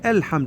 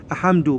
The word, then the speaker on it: الحمد: زين هنان اول ايه نقول الحمد هاي الهمزه الراس الصاد الصغيره همزه الوصل تتحول الى همزه قطا نقول ا نقول الحمد مو نقول احمد لا ال ال هذا اللام يظهر نقول الحمد لله هذا